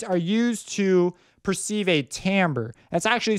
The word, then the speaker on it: timbre: used to perceive a Tambor that's actually spelled timbre like CIMB r e but it's pronounced Tambor because I believe it's a French word and that French just